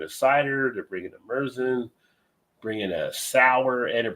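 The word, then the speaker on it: Märzen: But they're Merzen and not Marzen. I keep hearing people say Marzen is actually pronounced Merzen.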